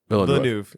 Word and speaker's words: Villeneuve: And I believe his last name is pronounced Villeneuve.